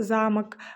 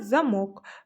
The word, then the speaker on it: замок: Дамир нарисовал замок, а Дина — замок. Сабит нарисовал кружки, а Салтанат — кружки. Найди в тексте одинаковые слова разным ударением. Напиши эти слова в тетради. Замок, замок. Кружки, кружки.